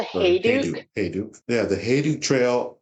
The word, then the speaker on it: Hayduke: Is that how you pronounce it? It's the Hayduke.